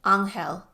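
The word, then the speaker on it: Ángel: Oko pronounced the man's name in the Spanish way. Anel.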